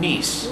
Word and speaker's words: Niec: and how do you say your last name niece niece I that's what I wasn't going to